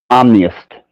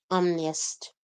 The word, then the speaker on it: omnist: you say it, omnivist, Omniist. omnist. Yeah, well, omniist. Like omni, all, whole, the whole spectrum, omni. And Yeah. then it's as in, uh, I don't know, sadist, masochist, um, you know, whatever ist Hmm.